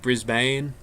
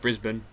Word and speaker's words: Brisbane: a lot of Americans would ever call it Brisbane but yeah it's pronounced Brisbane and we didn't crash nice yeah I live